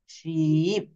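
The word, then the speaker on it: sheep: double রয়েছে বৃত্ত অর্থাৎ দুইবার রয়েছে তো এইটার উচ্চারণও কিন্তু আমরা একটু দীর্ঘ সময় বুঝে বলবো শিব এটা কিন্তু আমরা কি বলব এখানে আমি যদি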